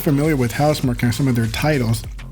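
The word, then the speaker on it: Housemarque: They buying HouseMark, or HouseMark, however you want to pronounce it, but it's HouseMark.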